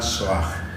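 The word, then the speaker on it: Shoah: Nosotros recordamos dos puntos, una reflexión sobre la soag. Soag es una palabrita que se escribe con sh o a h.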